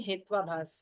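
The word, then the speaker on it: हेत्वाभास: है इंटेंशन नहीं है इसको प्रोनाउंस करते हैं हेतुभास हां हेतुभास भी कहते है हेतुभास भी कहते हैं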